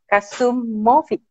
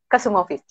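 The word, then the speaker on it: Kasumović: goes with one special Croatian letter, but it kind of not available in the English. So it's with the C, but it's pronounced Ch. I see.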